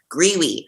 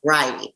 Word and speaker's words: Greiwe: At first, I'm glad you put the pronunciation in your email because I was thinking in my head, Greiwe. So it's not, it's Greiwe.